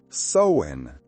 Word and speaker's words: Samhain: That's pronounced Sowen, as in, you are sowing over your head with these spirits.